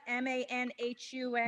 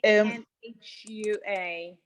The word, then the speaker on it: manhua: It's M-A-N-H-U-A. One of your audiences wanted to know if there's that. Are you making the comics in Chinese? Because I think these words may pronounced like 漫画 in Chinese.